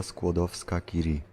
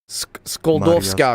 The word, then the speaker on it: Skłodowska-Curie: I can't pronounce this. Oh wait, this part. Here we go. Maria Skłodowska-Curie. Skoldowska. Skłodowska-Curie.